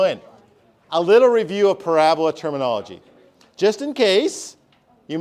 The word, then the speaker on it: parabola: word that I need Parabola Parabola not pronounced parab Abola yeah Parabola I know I